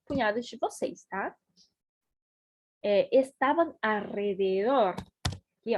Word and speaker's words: alrededor: Estavam alrededor, aqui ó, alrededor, pratiquem essa pronúncia comigo, alrededor, alrededor, alrededor, alrededor, alrededor, alrededor, ¿está bien?